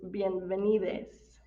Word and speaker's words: bienvenides: The way this is pronounced is bienvenides. Bienvenides.